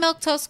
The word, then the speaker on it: Milquetoast: Uh, like I was saying, I'm Milktoast. That's how you say that word. That's how you say my name.